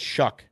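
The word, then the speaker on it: Shough: quarterback from um Louisville Tyler Shaw I guess they pronounce his name it's actually uh I think it's shuck shuck okay yeah crazy name yeah it's a weird weird pronunciation for how it's spelled 65 225 his game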